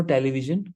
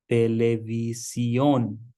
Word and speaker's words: televisión: So there is no television. We have to pronounce each and every letter. Televisión. Televisión. Can you pronounce it? Can you give it a try? No television. It is televisión.